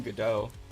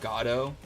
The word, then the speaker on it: Godot: I hope you've been enjoying Godot. That's how you say it, right? It's not Godot.